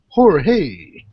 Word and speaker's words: Jorge: my coworker Jorge here yeah it sounds like a Whimsical prostitute hor he that's how he pronounces it I don't question have how many people do call you George though you what a